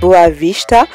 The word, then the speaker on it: Boa Vista: et de français boa vista qui se prononce d'ailleurs boa vista mais je n'ai pas l'accent portugais le s se prononce donc voilà comment ça se prononce exactement et ça veut dire